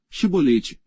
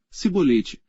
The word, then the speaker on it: Chibolete: não então lhe diziam dizem pois chibolete porém ele dizia se boleite porque não podia pronunciar bem então pegavam dele e